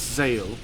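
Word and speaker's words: Zael: It's Zale.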